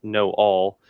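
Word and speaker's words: Noal: I which I pronounced no but is spelled n-o-a-l so you could pronounce it no all is as Jane farstrider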